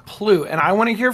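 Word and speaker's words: plugh: voice acted yeah so they took the word p-l-u-g-h and they had to come up with a pronunciation for it and the pronunciation that they came up with was plut and I want to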